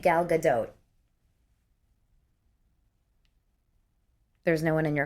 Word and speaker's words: Gal Gadot: How do you pronounce gal gadote? Here we go. Okay. Gal gadote. The t right. Gal pronounced like gut. Gal. Gal. Gal. O sound is short like in dot and the t is pronounced.